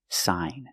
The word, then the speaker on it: sign: So, we see when you have gn at the end of the word, the g is silent, too. The pronunciation is sign. And you have the long i sound like hi and like.